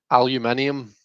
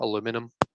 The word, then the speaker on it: aluminium: Aluminium. Aluminium is the proper spelling and pronunciation. Whereas I know in the US, you guys take out the last I and pronounce it aluminum.